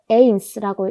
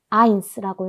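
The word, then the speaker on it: eins: 에와 이가 결합하면 그것은 이 소리가 난다라고 했습니다. 그래서 이것은 에인스라고 읽지 않고 아인스라고 읽습니다. 아인스. 숫자 1은 독일어로 아인스라고 읽습니다.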